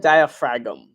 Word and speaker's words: diaphragm: very important okay diaphragm it's spelled diaphragm but diaphragm that is not on